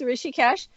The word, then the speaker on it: Rishikesh: How would I correctly pronounce it? Rishikesh is just as you said it. It's Rishikesh, and the ashram.